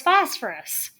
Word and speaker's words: phosphorus: symbol p so it's phosphorus okay so it's right here 15p is phosphorus so you pronounce that ph with an f sound okay so good so